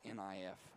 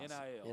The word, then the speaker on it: NIL: I want to say NIF, but I'm not. NIL. NIL.